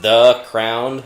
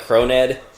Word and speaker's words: The Crowned: That is The Crowned, like Croned.